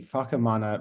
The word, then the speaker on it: Whakamana: From across the ditch, we have New Zealand's foremost cannabis activist slash enthusiast, but most prominently the founder of the Whakamana Museum. And I hope I've pronounced that correctly.